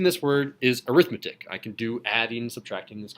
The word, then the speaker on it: arithmetic: arithmetic sequence I'm usually adjectives that can be used as nouns that end with I see I think that's real at least they have pronunciation that's towards the end sort of towards the front so if I'm saying this series is called an arithmetic series an arithmetic sequence not arithmetic sequence that that's not the